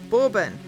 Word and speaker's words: Bourbon: Bourbons no no no it is not a whiskey it is a bourbon per they're English biscuits Jesse you can say it right borbon it's a borbon and they're yummy it's